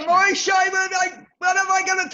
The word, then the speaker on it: Moshe: Well, Moshe is the Hebrew pronunciation, but really?